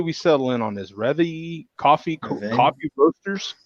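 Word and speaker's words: Rêve: Reve coffee roasters? Reve? Is the accent on the first E or the second E? First. Oh, so that's probably an accent aigu, not an accent grave.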